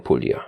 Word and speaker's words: Puglia: Sicilia Calabria paa and Puglia or Pula I think the g is silent turkey joins welcome welcome